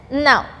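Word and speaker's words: know: Now, so the word K is, letter K is getting silent here. It is read as now.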